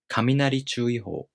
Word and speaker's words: 雷注意報: in the following noun, the first part of a compound noun becomes unaccented, and the following part keeps its original pitch accent pattern.